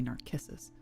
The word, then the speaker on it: Narcissus: Or Narcissus, because in the in Latin the C's are pronounced as K's, so it's a hard k sound. So it'd be Narcissus.